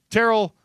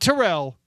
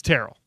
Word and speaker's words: Terrell: Terrell like barrel or Cheryl. So this is Terrell. Not Terrell. It's Terrell.